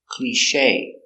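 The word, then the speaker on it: cliché: such a cliche pronunciation cliche Clee with a long e sound clear soft cliche analysis with a cliche the accent is on this syllable cliche that's a cliche the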